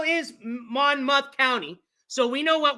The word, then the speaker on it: Monmouth: Monmouth, not mouth, Monmouth. That one I got really wrong. But this is kind of interesting. Okay, so how is Monmouth County?